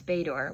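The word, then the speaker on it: Bator: In response, Bor, which is spelled B- A T O R, jumped onto my padded silk trousers, needle-sharp claws, snagging a path upward.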